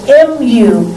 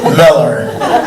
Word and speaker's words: Mueller: moved into that redevelopment i moved into the m-u-e-l-l-e-r development as mayor mr phelps how will you pronounce that development councilmember martinez miller mr stevens miller mueller miller mueller all right